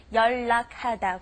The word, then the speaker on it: 연락하다: Just pay attention when you see an L and an N in either order coming together.